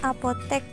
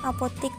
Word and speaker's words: apotek: Kemudian atlet bukan atlet karena atletik bukan atletik, dan apotek bukan apotik karena apoteker bukan apotiker.